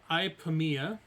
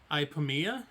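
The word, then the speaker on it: Ipomoea: want to notate it so proposed seeds of ipamiya oh wow hi pamia from your herbalism basically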